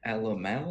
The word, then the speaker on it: Alamo: It is Alamo, so like Alamo the battle. Okay. But you stubbed your toe at the end, so Alamo.